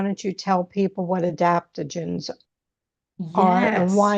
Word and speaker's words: adaptogens: Um, I was reading, some of your information that The Stursi line, there are no adaptogens.